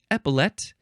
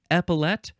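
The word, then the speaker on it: epaulette: e t t e epet you can emphasize the first syllable epet or epet the last syllable is emphasized um or you can pronounce the last syllable L epot this is a noun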